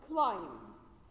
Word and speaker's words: climb: you an example example like climb we say client don't say client why because M comes a the end of the world and followed by B in this case b is silent the same rule if